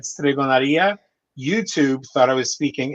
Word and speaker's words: stregoneria: In Spanish, it's stregoneria. In when you pronounce the Italian word, in Italian and Sicilian, it's stregoneria.